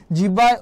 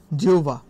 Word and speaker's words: জিহ্বা: হওয়া বা স্বাধীন হওয়া নিচের কোন কবিতাংশটি শুদ্ধ জিহ্বায় জিবা দেখো এটার উচ্চারণটা কিন্তু আমাদের খেয়াল রাখতে হবে এটা কিন্তু জিহ্বা বলি আমরা অনেক সময় কিন্তু না এটা এটা হবে জিউবা ঠিক আছে এটা হবে জিউবা এটার উচ্চারণটা তোমাদেরকে